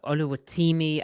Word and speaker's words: Oluwatimi: of Michigan the center it's actually ULU that's ULU the the Seahawks put out a pronunciation guy oh my apologies good name so so the eyes are all short eyes Tim no the first eyes it's Timmy is short Timmy then the second eye is the long eye okay